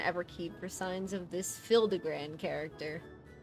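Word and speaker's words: Hildibrand: Since parting ways, I've searched every alley in Diabar and Everkeep for signs of this Hildigrand character. It's pronounced Hildabbran.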